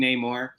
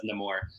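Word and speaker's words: Namor: too right yeah yeah I always went with no more and then they started saying Neymar in some of the marketing and stuff and then he pronounced it himself as nemour so I guess I'm gonna stick with that uh you know I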